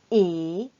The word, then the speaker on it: et: Attention, n'oubliez pas que est et sont différents. Est se prononce comme est, on ouvre la bouche. Est. Et se prononce en tirant un peu les lèvres.